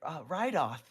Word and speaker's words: Reidoth: Yes, our friend Rydoth, and that's spelled Reidoth. D-O-T.